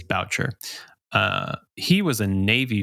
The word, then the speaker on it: Boucher: is his name I it's it's spelled like B like Bobby B but I believe it is Boucher uh he was a